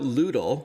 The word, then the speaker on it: Lewdle: in tell us about ludl and for our listeners it's spelled l-e-w-d like lewd l-e tell us all about